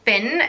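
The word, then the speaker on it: Fionn: on my list is the name Finn spelt a bit weirdly you might think as it has an OH&S spelt fi onn and one of the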